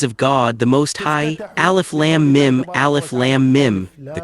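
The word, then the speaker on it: الم: Alf lamb mim alf lamb mim the correct Way to recite it is to lengthen the lamb for six counts and the mim for six counts. Alf lamb mim alf lamb mim.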